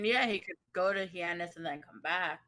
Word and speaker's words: Hyannis: Can't pronounce that one. That's fair. That's fair. There are some Heinous? cities. It's Hyannis.